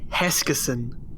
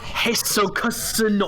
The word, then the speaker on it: Heskison: But Also, Matt, my name is pronounced Heskison. Not Heskoson or whatever the hell you say.